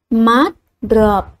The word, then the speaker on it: mát rợp: ức trong tiếng rực; mát rợp, các em nhớ đọc đúng vần át trong tiếng mát và vần ớp trong tiếng rợp.